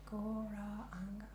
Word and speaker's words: Gauranga: It's got 4 syllables. Gauranga.